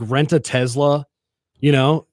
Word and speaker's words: Tesla: Yeah, you're saying Taz, like Taz, the Tesla. Tasmania Tes- devil. it's Tesla. Tezla is how it's spelled.